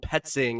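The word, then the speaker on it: Petzing: Drew Petting, I believe. Petting is how you pronounce it.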